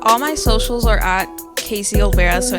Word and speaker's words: Kazey: Kazey, yeah. Okay. Kazey. But it's spelled KAZ?